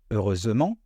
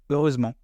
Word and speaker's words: heureusement: une différence et puis quand le E est placé au milieu d'un mot entre deux consonnes on ne va pas le prononcer par exemple les mots